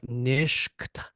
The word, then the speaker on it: Nishkt: But it's spelled kind of like Nishkt, but it's nish. It's like this guttural back of your throat kind of utterance.